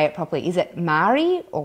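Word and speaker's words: Māori: it properly is that Maori or Maori gotta roll the are sorts moldy moldy almost like moldy he'd like think moldy cheese Moishe every time I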